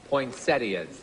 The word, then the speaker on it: poinsettia: she wore white and he wore lovely red poinsettias points i'm very happy to hear someone pronounce it correctly thank you poinsettia you know